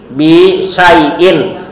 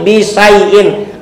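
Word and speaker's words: بِشَيْءٍ: benda yang dimajrurkan dibaca Bacanya i bisaiin tidak makai alif lam bukan bisai bukan tapi bisyaiin.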